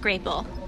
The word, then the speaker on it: grapple: hey want a grapple it's a cross between grap and apple I know and it's pronounced graple who's your friend him